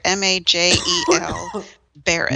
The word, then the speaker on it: Majel Barrett: Majel Barrett. Majel Barrett. Oh my God, that my cough is killing me. Do we need to stop? So this is the first one to not include Majel Barrett.